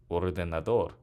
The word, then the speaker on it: ordenador: Ordenador. No accent mark needed. It follows the stress rules, ends with R, and the stress should fall in the last syllable, and it does.